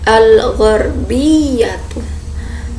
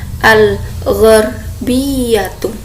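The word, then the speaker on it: الغربية: Kita ulangi bersama-sama, al-gharbiyatu, barat. Nah, coba kita baca bersama-sama, al-gharbiyatu, barat. Oke. Jadi ini kalau barat dia tidak ada yang panjang ya, tidak ada yang panjang.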